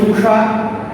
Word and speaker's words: উষা: যেমন যদি লিখি উষা, তাহলে কিন্তু উষার উচ্চারণ কি হবে, যেহেতু দীর্ঘ উকার হবে না সেক্ষেত্রে হবে হ্রস্ব উকার।